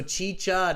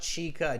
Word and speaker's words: chicha: with this okay so chi-cha not chica chicha all right uh so